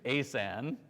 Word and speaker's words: ASan: anyone here used uh I'm going to say this word the way it's canonically pronounced but it's going to sound goofy GP asan has anyone use asan